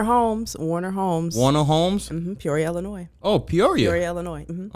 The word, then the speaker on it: Illinois: The S is not pronounced. It's silent. It's silent. So it's Illinois.